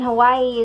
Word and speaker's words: Hawaii: you pronounce Hawaii, because the W in Hawaii is actually a V sound because they don't have a W sound.